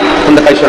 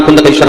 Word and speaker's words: कुंदकेश्वर: नाम कुंडकेश्वर होगा मेरा नाम कुंदेश्वर महाराज बिलकुल सही नहीं है ऐसा मेरा नाम कुंदकेश्वर होगा क्योंकि ये मेरे चरणों